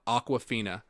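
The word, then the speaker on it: Awkwafina: Aquafina, spelled like AWK, WAFINA.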